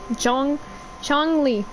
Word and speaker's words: Zhongli: Zhongli.